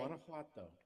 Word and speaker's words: Guanajuato: And then you have the Guanajuato. I may not be pronouncing that That's right, correctly. Guanajuato.